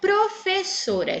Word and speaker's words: professora: vocês, desculpem, a palavra professora. Então, vamos lá. Professora. Segundo a quantidade de sílabas, ela é classificada como polissílaba, pois ela tem 4 sílabas. Vamos achar a tônica. Ô, professora! Qual é a tônica?